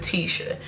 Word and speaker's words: Tishea: So, first and foremost, my name is Tisha, okay? You pronounce it Tisha.